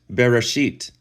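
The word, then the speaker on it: בראשית: This first word right here is pronounced Bereshit, and it means in a beginning, not in the beginning, but in a beginning.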